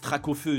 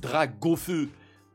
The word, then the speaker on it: Dracofeu: Frère, entre ceux qui disent Dracofeu, ceux qui disent Dragofeu. Et tout ça, frère. S'en fout, frère, de la prononciation.